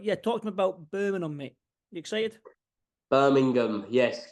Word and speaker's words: Birmingham: Birmingham. I get a lot of shit for this, the way I say Birmingham. Apparently, you've got to pronounce the G.